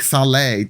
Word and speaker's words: salé: It's the cake salé. It's like cake sale, but the accent on the E exists.